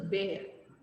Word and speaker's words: bear: This is not beer. This is bear, bear. It's pronounced bear.